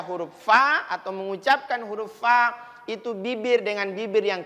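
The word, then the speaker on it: ف: Fa supaya pas pengucapannya, masuk pada idlaqnya, maka gigi bawah bertemu dengan bibir atas.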